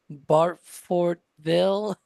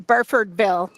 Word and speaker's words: Burfordville: I don't know how to pronounce the location though. Barfortville.